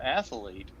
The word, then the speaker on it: athlete: and they go well that's because there's no e and you're pronouncing an e they're like well you're